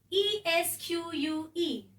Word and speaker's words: esque: by adding the suffix e s q u e pronounced as esque last one ID I'll